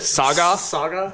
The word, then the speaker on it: Saga: You're putting the emphasis on the wrong letter. Hey, You put the emphasis on the wrong syllable.